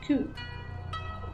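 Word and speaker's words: 九: The number 9 and the word pain also share the pronunciation ku.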